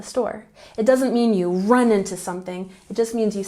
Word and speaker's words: run into: we have run into into has the emphasis on the first syllable run into run into it means that you